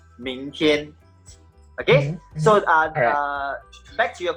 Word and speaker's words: 明天: Okay, so the second one is 明天. Okay, 今天, 明天.